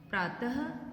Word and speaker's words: प्रातः: अह में हम जब बोलते हैं तो अह इस तरह से बोला जाता है, अ के साथ ह का प्रयोग होता है। प्रातः, अब इसमें सिर्फ ये दो जो डॉट दिखाई दे रहे हैं, इसी तरह से किसी भी वर्ण के पीछे लगाए जाते हैं। तो उसका उच्चारण हम जब करते हैं प्रात, तो हम इसके साथ जो दो बिंदी है उसको हम ह बोलेंगे। तो प्रातः, नमः, छः, पुनः,